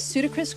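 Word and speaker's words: Pseudacris: So its scientific name is Pseudocris crucifer, which I remember because I just remember Ludacris, like the artist, and I remember Ludacris, and then that rhymes with Pseudocris, and then it has a cross on its back, so crucifer.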